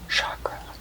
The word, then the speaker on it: chakra: be your solar plexus chakra chakra sorry it's important to pronounce chakra correctly it's a hard cha and not a soft shot so you can see